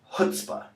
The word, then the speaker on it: chutzpah: See that first C? Don't pronounce it. This word is pronounced chutzpah.